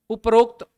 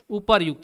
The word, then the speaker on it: उपर्युक्त: आधार क्या था उच्चारण ऊपर था र पूरा मैं पढ़ हूं ऊपर र आधा ही पढ़ रहा रफ के रूप में तो आपका राइट आंसर यह वाला होता है उपर्युक्त यह क्या होता है